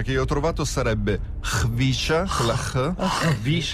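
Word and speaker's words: Khvicha: Anche se l'esatta pronuncia che io ho trovato sarebbe Hvisha, Kvaratskhelia.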